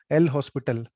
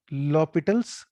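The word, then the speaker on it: L'Hôpital: एल हॉस्पिटल है ना, वो मत करना यार प्लीज. मतलब यू शुड साउंड एजुकेटेड. तो एल एच ओ एक साथ बोलते हैं लॉ, और एस साइलेंट है. लॉपिटल्स रूल.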